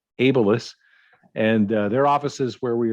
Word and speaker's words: Abilis: the ceo of abelis which i have been mispronouncing all this time amy i apologize a b i l i s ableist and their offices where we are joining her